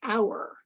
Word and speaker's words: hour: read and write, then they learn the silent H in words like hour, what hour of the day, or the heir to the throne, and honor, and so forth.